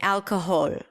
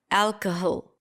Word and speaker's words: alcohol: you to tell me if the last syllable is a pure vowel or a reduced vowel is it a schwa so right now let's say I'm saying alcohol what happens if I reduce it alcohol alcohol does that sound okay